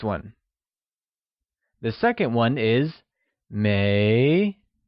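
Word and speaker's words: 没: the second one is May pronounced with a mid rising tone it is said as May the verb to have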